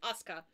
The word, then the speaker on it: Asuka: Japanese, you don't pronounce the U. yeah. If it's like that, if it's in the middle, you don't pronounce the U unless it's at the end. So it's just Asuka.